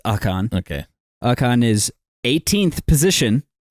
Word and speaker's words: Ocon: So Ocon, since I'm saying it wrong now, apparently it's Ocon.